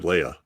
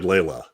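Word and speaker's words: Laya: Hayes Leia Leah l-a-y-a yeah how do you pronounce that I just said Leia okay Leia but you said Layla oh did I throw an extra l in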